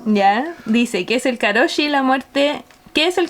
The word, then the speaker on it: karoshi: que es karoshi, el nombre de la enfermedad. bien, ¿eh? Pero esa es la Karoshi pasta es de una mamá.